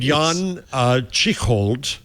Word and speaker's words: Jan Tschichold: Meanwhile, famously there's a guy named Jan Tschichold. I'm going to mispronounce his name. Well, that's exactly. You pronounced it exactly correctly, though.